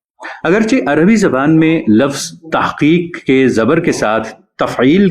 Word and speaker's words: تحقیق: اور بولا جائے گا تو اس کا اردو تلفظ درست ہوگا، یعنی تحقیق نہیں تحقیق۔ بعض مدرسے والے ہا کو بھی خوب حلق